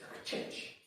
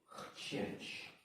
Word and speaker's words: chcieć: I mean, it's want, but how do you pronounce it? Chcieć. Chcieć. Okay, it's not chcieć, it's chcieć. It's dry. Okay. Chcieć.